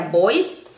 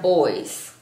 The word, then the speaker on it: boys: vocal y una s Aunque tienen una s al final no se pronuncia como ese sino que se pronuncia como una Zeta muchísimas palabras así se